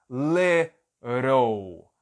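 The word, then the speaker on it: little: esse item som de esses dois Ts vão ter som de R lerol leram lerol né E aqui no final vai ficar um U L ler ou ler ele é mudo no final né então aqui fica lero esse L fica com som de o l lerol para você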